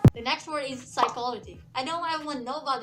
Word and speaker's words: psychology: little bit confused that how to pronounce this word as psychology or psychology. So now you know about this word. So it's better for you to not make this mistake of pronouncing this word as psychology. Say it as simple, psychology.